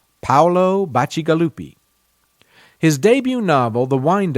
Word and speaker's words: Paolo Bacigalupi: Colorado and I will make every effort to pronounce his name correctly Paolo Bacigalupi his debut novel the wind up girl won